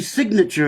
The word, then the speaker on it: signature: of your nature and if you see see signature in that particular sense the g is pronounced but in the word